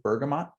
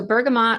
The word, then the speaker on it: bergamot: have any experience with bergamot yeah so bergamot or bergamo you can pronounce them either way is a citrus plant